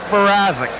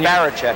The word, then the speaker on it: Barazik: Mark Barazik. Yeah, we were saying Baracek.